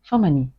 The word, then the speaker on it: Femony: And one of the women said, are you Femony? The Egyptian pronunciation of my name.